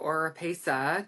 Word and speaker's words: Oropeza: little nervous I have my dear friend Eduardo or PESA did I say it right you said it